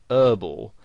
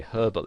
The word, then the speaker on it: herbal: they would pronounce it whereas in british english you would pronounce the h and you would say herbal essences and you might